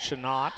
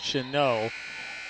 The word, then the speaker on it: Chenault: I'm pronouncing that right it's not should not or should note or something like that but I think it should know the T is silent also in the game or